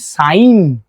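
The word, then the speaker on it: sine: প্রথম মেশিনের নাম হচ্ছে এস আই এনই যাকে আমরা উচ্চারণ করি সাইন।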